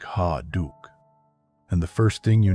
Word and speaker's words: Ha Duc: His name is Ha Duke. You can say it like Ha Duke.